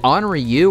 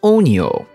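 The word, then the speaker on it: Onryo: the correct pronunciation is onyo i don't know what that r is doing in there but i'm assuming they stole it from the word colonel where do i find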